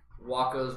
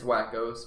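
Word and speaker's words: Wakko's: Waco's Wish. It's Wackos, but okay.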